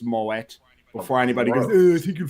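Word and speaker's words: Moët: a bottle of moet and yes it is pronounced moet before anybody goes he can find this movie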